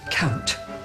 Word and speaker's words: count: like that oh dear he will pronounce the T at the end of the word count count your blessings blessings